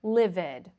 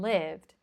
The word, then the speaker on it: lived: But, of course, it's useful for you to know that these verbs are not moved or lived, okay? That's incorrect. It's moved and lived.